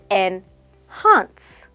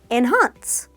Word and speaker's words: enhance: say enhance pronounced as enhance the stress is on the second syllable inhance say it with me once again enhance enhance great so instead of